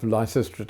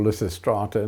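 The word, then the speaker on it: Lysistrata: And I can't remember how this came around but uh somewhere along the line uh the idea of licistra or licist strata depending how you want to pronounce it uh came into ideas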